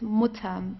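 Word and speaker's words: Mutter: the mutam okay so it's not M or so it's mutam very very short okay the mut the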